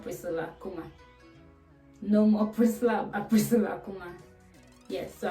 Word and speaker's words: Priscilla: my youtube channel crystal Akuma no more Priscilla Priscilla come on yes so how do we adjust to a new name pronunciation of everything and it has come to